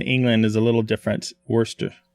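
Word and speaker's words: Worcester: is a little different Worster Worster Worster I'm sorry Worster no r no fresh wer in Massachusetts yeah Worster Massachusetts right okay so here's the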